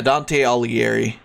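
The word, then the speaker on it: Dante Alighieri: Dante Al aleri yeah Dante aleri that's how you pronounce his name or Ali aliger usually the GH is silent he's the he's the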